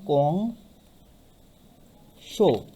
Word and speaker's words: কংস: অর্থাৎ উচ্চারণটি হবে তখন কং শো। উচ্চারণটি কেমন হবে? কং শো, কংসর থেকে কং শো।